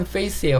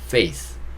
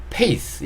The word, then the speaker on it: face: 자, 얼굴은 face예요. face. 그쵸. 얼굴은 face라고 하시면 되고, 이것도 F 발음이기 때문에 pace보다는 약간 face 이렇게 발음해 주시는 게 좋아요. F 발음은 face. 제가 만약에 이거를 P 발음으로 pace 이렇게 해버리면 전혀 좀 다른 뜻이 되거든요.